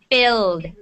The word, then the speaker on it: filled: It's not felt. It's filled. Duh T at the end. sounds? T Yeah. sound? Yeah. You T. keep making a T sound. There is no T sound. No T sound. It's a D sound.